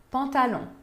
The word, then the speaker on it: pantalons: Não se pronuncia nem o X de deux, nem o S no final de pantalon. Deux pantalons.